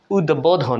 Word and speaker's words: উদ্বোধন: আরেকটি পরিচ্ছে শব্দ দেখুন উদ্বোধন উদ্বোধন এখানেও দেখুন দ এর সঙ্গে ব ফলা উচ্চারিত হলো কি কান্ড তাই না